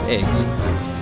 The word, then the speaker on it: AGWS: And AGWS, which is pronounced eggs.